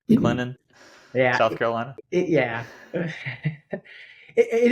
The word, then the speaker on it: Clinton: So have you noticed any, have you and Alicia noticed any just cultural differences and being in Clinton, trying not to pronounce the T, Clinton, yeah, South Carolina?